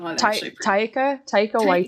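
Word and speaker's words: Waititi: can't remember and never i think it's tight away yeah yeah that's how you pronounce it he is on press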